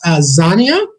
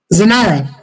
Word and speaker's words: Zanara: It's Zania? Zainara. I can actually clarify that is Zanara, and thank you so much, Zin. Zanara, sorry that I got your name wrong.